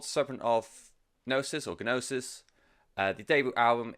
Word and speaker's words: gnosis: prance this road properly serpent of gnosis I want to set as a silent G GN o s is